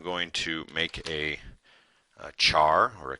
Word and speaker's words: char: So I'm going to make a a char or a char if you prefer to pronounce it that way, and I'll just call it the current character.